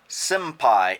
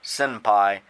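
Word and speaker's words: 先輩: Generally speaking, when you say the word, it's a little hard to tell if it's an M or an N, so you'll see it spelled different ways. Senpai, senpai.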